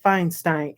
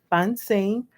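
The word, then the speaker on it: Funcie: of my other videos it said feinstein and that's not my name my name is fun sing f u n c i e that's my name so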